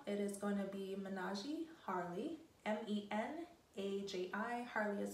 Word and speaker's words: Menaji: a special discount it is going to be menage harley m-e-n-a-j-i harley is spelled h-a-r-l-e-e thanks guys bye